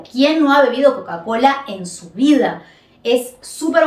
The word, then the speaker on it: Coca-Cola: y la l Cole Coca Cola Coca Cola vieron que no es coca-cola es Coca Cola y si dicen coca-cola probablemente no les entiende y la otra manera